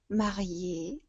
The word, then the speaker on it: mariée: Et la jeune mariée, tak samo wymawiane, czyli panna młoda.